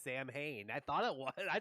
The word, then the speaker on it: Samhain: i don't know just how do you get solid out of samhain i don't know but that's apparently how it is really pronounced is sawin but yeah um for